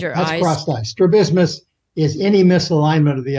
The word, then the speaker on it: strabismus: talk a lot about I'm probably mispronouncing this one too as strab strabismus strabismus oh the stresses in a different place strabismus and is that what